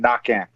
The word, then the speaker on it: Naquin: now i can't not cajun french the q is a k the n is silent at the end knocking and uh but i